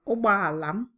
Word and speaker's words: ụgbọ ala: normal way, that O is actually silent and it usually sounds like ụgbọ alam, as if the O in the middle is not there. So you find that when you're saying it, this O is silent, okay? And it says ụgbọ ala.